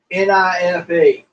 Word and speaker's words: knife: It's just like saying a word like knife. Nife. Yeah. No, it's spelled Knife. Mm-hmm. The K is silent.